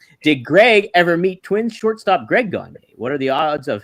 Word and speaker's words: Gagne: the East Coast, and out there they pronounce the name Gagne, but it's actually Gagne. There's a little accent with it. It's a French name.